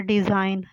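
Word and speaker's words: design: सबसे पहला वर्ड है डिज़ाइन। जी इसमें साइलेंट है, तो इसका मतलब पैटर्न, नमूने, डिज़ाइन।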